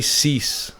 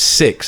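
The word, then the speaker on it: Six: So during a 1982 group stage match between France and Kuwait, Didier Cisse, I'm going to go with, it's 6 actually, but we're going to go with the French pronunciation.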